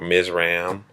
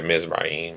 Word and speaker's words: Mizraim: He had four sons: Mizraim or Mizram. Um, Sounds closer to the proper pronunciation when you say Mizraim.